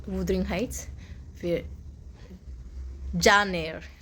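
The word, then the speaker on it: Jane Eyre: फिर John air, उसका correct pronunciation है जॉन एयर, जो हम आप लोग को वो प्रीवियसली आपको बोला था कि जेन आयर है, वो जेन आयर नहीं है, जॉन एयर है, प्रोनाउंसिएशन में गलत हो गया।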